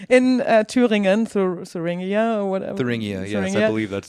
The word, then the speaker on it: Thuringia: Thuringia, yes, I believe that's how it's unfortunately pronounced.